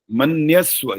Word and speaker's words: मन्यस्व: मन्यस्व, य का उच्चारण कम आया, बाकी ठीक है।